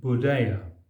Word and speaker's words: Buddhaya: Buddha in India is pronounced Buddhaya, transliteration of the Sanskrit Buddha, and in China is